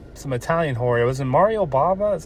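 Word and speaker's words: Mario Bava: it was um some Italian hor was in Mario Baba is how you say his name I watched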